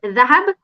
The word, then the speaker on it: Dahab: Yeah, so it's an Arabic name, which actually is Dahab, which means gold. Oh, But I think because of Eritreans, the way we pronounce it, we call it Dahab.